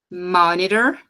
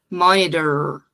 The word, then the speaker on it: monitor: osculation Ok monitor monitor Lembrando aqui de novo que esse R ele não vai ser pesado igual o nosso aqui em Curitiba a gente fala porta por quê não Não dá para ser esse r tão pesado monitor e o t Vai um som quase um som de um D cardiac re hum essa